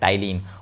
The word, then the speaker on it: ptyalin: दूसरा नाम क्या है, टाइलिन, और इंग्लिश में इसको लिखते हैं पी से, PTYALIN, पी साइलेंट है।